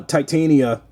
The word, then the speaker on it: Titania: But Tatiana uh Tat Titana Titania I keep saying her damn name wrong. uh Titania in the u you know Marvel Legends she